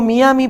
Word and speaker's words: Miami: la unidad de Miami Y aclaro que digo Miami porque la palabra no es inglesa no hay que por qué pronunciarla la inglesa es de un idioma aborigen de Florida y no en inglés Así que no hay por qué pronunciarla como se dice vulgarmente en Miami supuso que parte de